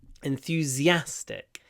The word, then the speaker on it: enthusiastic: teacher is very enthusiastic enthusiastic enthusiastic the stress is on the a at the end enthusiastic and in the